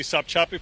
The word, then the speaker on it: Sopchoppy: Let's go to Gary Tuckman, and I'm not sure I'm saying this right, but Sopchoppy, Florida. Gary. John, you are saying it correctly, Sopchoppy, Florida.